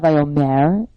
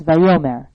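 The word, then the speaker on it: וַיֹּאמֶר: These cantillation marks, as they're called, are found under or over the syllable that is pronounced. So it's not Vayomer, it's Vayomer.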